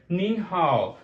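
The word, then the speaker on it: 您好: सकते हैं, तो you simply have to mention निन हाउ। सो किस तरह आप प्रोनाउंस करेंगे, यू विल से निन हाउ, निन हाउ।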